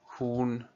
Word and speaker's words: Huhn: Das Huhn. On prononce bien le H au début du mot Huhn, die Hühner.